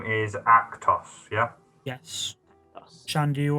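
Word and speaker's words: Akhthos: And his name is Actos, yeah? Yes. Shan, do you want to just recap how that's spelled?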